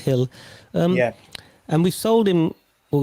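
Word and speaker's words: Gil: I think the G is pronounced Hill.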